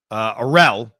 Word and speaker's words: Arell: He's a Yankee fan, and I remember reading his emails a lot because I would mispronounce his last name, and he would correct it as it rhymes with Adele.